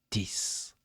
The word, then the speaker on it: TIS: Le 5 septembre 2025, Diana Diana publie l'album T I S prononcé Tiss.